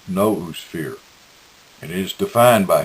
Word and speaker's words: noosphere: Raymond phonetically pronounces the word as noosphere, and it is defined by him as the territory of ideas, the space of all possible thoughts.